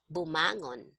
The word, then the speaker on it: bumangon: Okay, so if you see here, you're going to place the stress on the second to the last syllable. Okay, Mhm, mhm. that's where the stress is, like gumising.